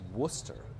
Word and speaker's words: Worcester: pretty I mean it's it's spelled worse Esther but it's just Worcester you kind of leave the are out of it entirely anyways these cops were